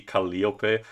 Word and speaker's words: Calliope: The correct thing the pronunciation for the name of Calapi should technically be Caliop because it has Greek origin but again I guess